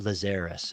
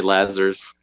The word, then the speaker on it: Lazarus: Now, do you say Lazarus or is it Lazarus? How do you say it? I say Lazarus. Lazarus. Yeah, that seems about right to me.